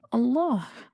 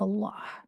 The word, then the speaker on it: Allah: the name of Allah, don't forget the sound of the ha at the end, because the name of Allah is Allah, not Allah, like some people say.